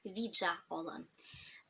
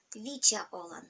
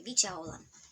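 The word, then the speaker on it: видза олан: кто не знают коми-языка, пытаются его произнести как виджа-олан. Вот такое произношение очень режет уши коми-язычным людям. Лучше сказать вича-олан со звуком Ч, часы, как в слове часы, вича-олан.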